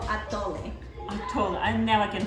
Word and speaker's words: atole: This is called Atole. Atole. I never can pronounce it.